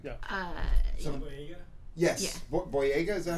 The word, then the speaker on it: Boyega: Boyega, is that how you say it?